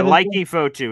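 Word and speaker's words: Leki Fotu: Leaky Foitu is how you pronounce it.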